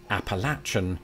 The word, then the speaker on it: Appalachian: florida called the apalachee it was transcribed by spanish explorers and would have been pronounced appalachian as it happens the words phonetic history lends credibility to the present-day assertion that this way is correct indeed that assertion is